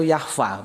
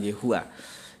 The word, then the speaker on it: Yahweh: Sebetulnya kalau dibaca itu Yahva bacanya itu ya. Kalau menurut aturan main Ibraniun itu Yahva ya, bukan Yehua.